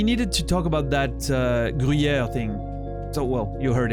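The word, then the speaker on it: Gruyère: But it's not like a rolled R, it's not like gr, you know, it's really that, it's here that it happens. Gruyere. So, yeah. Je mange du Gruyere. That's how we pronounce it. It's like, it's so smooth, it comes out. It's a sound I don't think you guys have at all. Gruyere. Grui, like that U, Gruyere. Yer. No, Gruyere.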